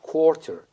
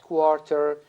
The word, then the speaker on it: quarter: going to see it quarter so here the Stu the teacher can tell the people that notice that here it's not quarter it's quarter and pay attention how they are going to pronounce it so that they match